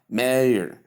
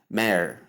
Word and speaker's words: mayor: So we have mayor, mayor. But in the British pronunciation is simply mayor, mayor, just as in prayer.